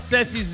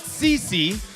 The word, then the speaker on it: Ceci: So let's pronounce Ceci's name correctly, all right? So Shane, it's Ceci. Ceci. Yeah, simple. Now, it's not Cece, okay? It's not soliloquy, okay?